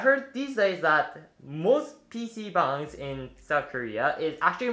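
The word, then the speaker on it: PC방: right the second word for this video is pc bang again is some people pronounce it pc bang but it's actually again called pc bang but in for this word bang isn't derived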